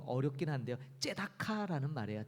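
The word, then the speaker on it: צדקה: 나온다 말씀드렸는데 첫 번째가 구제 히브리어로 이게 조금 발음이 좀 어렵긴 한데요 째다카 라는 말이에요 째다카 이 말은이 구제가 갖고 있는 원래 뜻은 뭐냐면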